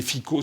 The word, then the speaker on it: Fico: Alors ça s'écrit Fico, ça se dit Fico, qui a été Premier ministre slovaque, avait ensuite perdu les élections, et puis là, qui s'est représenté.